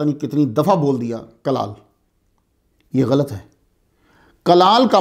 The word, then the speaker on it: کلال: کلال, پہلے تلفظ پہ غور کر لیں آپ. چھوٹی کاف کے ساتھ ہے. چھوٹی کاف کو اصطلاح میں القاف المعارہ بھی کہتے ہیں. چھوٹی کاف کلال, اصل تلفظ جو ہے وہ کاف پہ پیش ہے.